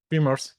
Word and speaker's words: Vimers: Vemer.